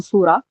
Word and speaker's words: surah: like actually comes from surah um which is it doesn't come from it is surah it's just an udu pronunciation surah yeah surah